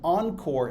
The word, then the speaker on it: ENCOR: For example, the CCNP Enterprise track, which most people take, which consists of the Encore exam, that's spelled ENCOR, as well as one elective exam that you can choose from a list of several.